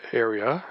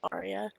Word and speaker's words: Aria: This is Area. Area, this is... Carl. Carl. Hi, Carl. Hi, Area. Nice hair. Thank you. Also, just by the way, it's pronounced Aria.